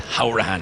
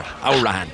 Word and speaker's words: Hourihane: My friends from Cork will tell me it's Hourihane. You don't say Hourihane, it's Conor Hourihane. Yeah, I know. Is how they say it in Cork.